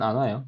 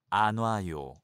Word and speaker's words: 안 와요: Well, there's a space, but you better pronounce it without pause, like this.